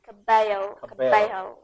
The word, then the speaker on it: Cabello: It's kind of like bello, but you have to pronounce it Cabello.